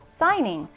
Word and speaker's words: signing: our base word hmm that kind of looks like seeing I guess what it's not ng right it's G n so that one is sign-in signing I don't know why